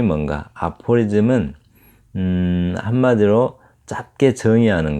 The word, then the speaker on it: aphorism: 그런데 이제 aphorism, 한마디로 짧게 정의하는 말, 이런 말들을 aphorism이라고 하는데, 읽으실 때는 aphorism이라고 읽습니다. aphorism. 자, 그럼 aphorism이 뭔가? aphorism은 한마디로 짧게 정의하는 거, 이렇게 짧게 뭐는 뭐다 이렇게 표현하는 거, 이거를 아포리즘이라고요.